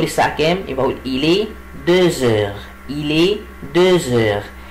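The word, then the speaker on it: deux heures: يبقى أقول إلي دوزور، إلي دوزور. طب هنا ليه ما قلتش دو؟ ليه قلت دوز؟ لأن الإكس لما يجي بعدها فاولز منطقها زد، عشان كده أقول إيه؟ إلي دوزور.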